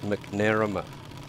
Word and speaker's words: McNamara: I worked with a bloke and his name was McNamara, but he wanted his name pronounced McNarama. Oh, really? Mm. Just to make it difficult for you? Or? Yeah, no, he wanted to emphasise the Mac.